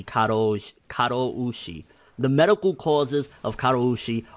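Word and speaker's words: 過労死: According to reports, Mizuno passed away due to overwork, which is known as karoshi. I'm sure I'm not pronouncing that correctly. Karoushi.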